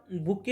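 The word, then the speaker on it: bouquet: काय असतो स्पेलिंग काय बी ओ यु क्यू यु ई टी याचा उच्चार बुके होतो परंतु टी चा जरी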